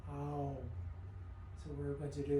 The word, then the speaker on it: Om: oh and the correct the correct pronunciation is actually three syllables it starts with ah oh all together it's oh so we're going to